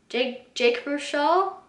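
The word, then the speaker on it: Baruchel: Jake Bruchel.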